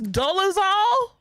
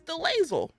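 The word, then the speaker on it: Dolezal: I heard it was Dolazal. It's Dolazal. Oh, I thought it was Delazel.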